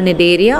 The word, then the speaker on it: Cnidaria: Okay, your C is silent, so it is called Cnidaria or Coelenterata.